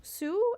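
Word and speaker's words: Hsu: once and we have Stephanie Zoo Sue I think is how you pronounce that Stephanie sue for everything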